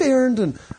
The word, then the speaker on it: Arend: Swift mentions yeah um yes my name is Aaron a-r-e-n-d with a d on the end is spelled so you can find me on